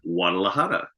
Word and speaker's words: Guadalajara: We Oh, pronounce it Guadalajara in Spanish.